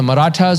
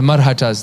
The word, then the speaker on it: Marathas: Indian subcontinent which is called either the marathas or the marhatas they're pronounced both ways the marathas today a